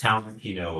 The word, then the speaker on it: Talentino: I'll give you a grade if you can actually spell as it's pronounced Talentino, which is T A L E N T I N O.